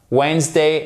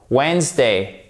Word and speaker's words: Wednesday: l'effort de bien prononcer, donc de ne pas prononcer le D. Handsome, handsome, sandwich, sandwich, sandwich, handsome, Wednesday, et on n'oublie pas le H ici évidemment qui se prononce, c'est pas handsome, non c'est handsome, handsome, Wednesday.